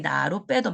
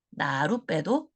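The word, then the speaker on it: 나룻배: 그래서 사이시옷을 받쳐서 표시를 하다 보니 기존에 나던 발음인 여기 나루 빼도 맞지만 새롭게 사이시옷이 첨가되고 난 발음인 나루 빼도 표준 발음으로 인정이 되는 겁니다.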